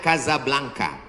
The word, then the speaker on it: Casablanca: Ibu kotanya tulisannya Casablanca. Cara bacanya Kazablanca.